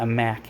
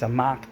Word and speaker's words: Amok: it wrong it's not a mac it's a mock time sorry a mock time